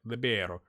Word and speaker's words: libero: Manager played with a libero. That's what it's called, right? Libero. You gotta say it like that. Libero.